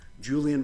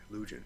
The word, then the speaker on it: Lujan: that's what in the Julian versus Defenders of Wildlife, I think I'm pronouncing it correctly. I think it's Lujan, excuse me.